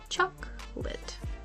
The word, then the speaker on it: chocolate: but native speakers say choc late let's break it down the first syllable chalk is stressed and pronounced clearly while the second part